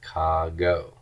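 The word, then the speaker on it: κἀγώ: And this is going to be written as kago, kago.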